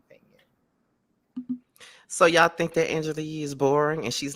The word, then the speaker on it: Angela Yee: Angela Yee.